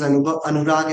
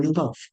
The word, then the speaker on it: Anubhav: And if somebody mispronounces it, somebody says Anurag instead of Anubhav. Okay, Anurag, how are you doing? I feel offended. No, I'm not Anurag, I'm Anubhav. So we take so much